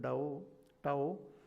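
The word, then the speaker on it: Tao: talk about this da they call it the pronounce it da tow which has got this in and yang and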